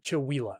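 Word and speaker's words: Chewelah: Call it Chawila. Okay. But I know how to pronounce names like Snohomish, Skycomish, Squim, Puyallup, of course, is the famous one.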